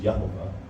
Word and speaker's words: Yehovah: So the word Yahweh and Yehovah are, or I guess we can say it the way Americans do Jehovah, because you hear it that way. The actual pronunciation is Yehovah.